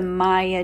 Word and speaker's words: Maja: one is called the Maya Joe hat Maya is spelled m Aja a Swedish it was my grandmother's